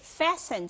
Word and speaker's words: fasten: OK, fasten 这个字就是扣的意思，这个 T 是不发音的，同学要注意到。那 fasten 刚刚令老师的解释说，任何的纽扣子，或者是有 zipper 有拉链的，或者是那种扣环式的，这样子的动作都叫做 fasten.